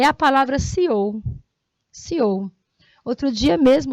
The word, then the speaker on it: CEO: Não é CEO, é CEO, porque a pronúncia é feita em inglês.